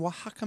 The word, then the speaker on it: Oaxaca: your background color cameras from says hello from Oaxaca Mexico oh my gosh I've been to oaxaca